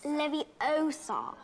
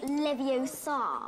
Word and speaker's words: Leviosa: someone's eye out besides you're saying it wrong it's leviosa not leviosa oh oh well done